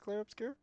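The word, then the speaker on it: Clair Obscur: I think it's pronounced Clare Obscure.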